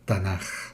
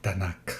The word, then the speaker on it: Tanaj: Nevim, la N, ya, y Ketuvim, o Getuvim, la J, la Tanaj. Por eso en español se llama Tanaj, o Tanakh, según la pronunciación.